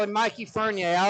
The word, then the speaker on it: Fournier: I think it's Fournier. He's said many times to me that it's Fournier, but I always call him Mikey Fournier.